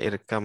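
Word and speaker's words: اركب: Jakarta ini dikabarkan biarkan sebetulnya tuh irkab ya bukan irkam tetapi karena ketemu bak ketemu mim bacanya irkam Mana itu ya itu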